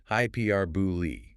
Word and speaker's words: hyperbole: Hyperbole pronounced hypou stress on pear.